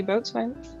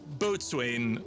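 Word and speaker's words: boatswain: people give enough orders I can be boat or Bo yeah it's you could it it looks like boat Swain it's on the just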